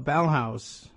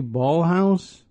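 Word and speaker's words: Ballhaus: two L's is she ballhouse because of the two L's or I would ordinarily pronounce it Bal house even though there's two L's there anyway she's got this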